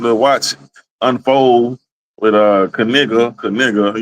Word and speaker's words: Knigga: That's that's going to be something to watch unfold with uh Kigga. Kigga, you know how you say it again? It is. It's Kanega.